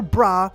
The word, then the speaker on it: Bra: But wait, is her name Bra or is it Bola? Well, in Japanese, her name is spelled Bura because the L sound doesn't exist in Japanese. However, if you call her Bra or Bola, both are technically correct.